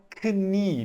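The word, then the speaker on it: Knie: signica neutra dasni e eu tenho que pronunciar assim esse k tá gente eu sei que é escrito tal como se fosse no inglês mas aqui é alemão e aqui a gente fala kni mesmo KN tá significa o joelho atenção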